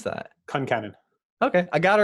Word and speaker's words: Concannon: and n o n nice how do you pronounce that Concannon okay I got it right in my head whew that's a strong name Concannon right it's Irish all four of my grandparents